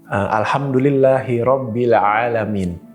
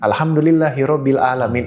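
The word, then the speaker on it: الحمد لله رب العالمين: Di ayat di depan deh, Alhamdulillahi Rabbil Alamin. Tapi ada orang bacanya pakai alif biasa. Alhamdulillahi Rabbil Alamin. Itu artinya udah beda Mas ternyata.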